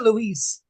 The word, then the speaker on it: Louise: Is it Lewis or Louise? Lewis. I prefer to have my name pronounced Lewis. Even though my name is spelt Louise.